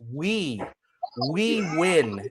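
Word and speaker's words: Huy: I have the Americanized name, but my real name is spelled H-U-Y, and it's pronounced We Win is my real name.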